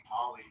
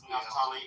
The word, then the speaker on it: Naftali: Like Natali as in, I think Natali from Chillism. No, it's Naftali.